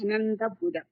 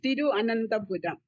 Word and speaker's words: Thiruvananthapuram: It's too difficult to pronounce. Thiruvananthapuram. Yeah. It is Thiruvananthapuram.